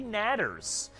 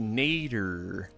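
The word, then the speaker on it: Nadder: stingers and there's deadly natters. So we have our work cut out for us still. Hold on, deadly what? Natter. Are you sure it's not pronounced nader? No, it is not Ralph Nader, political opponent from 1990s, okay?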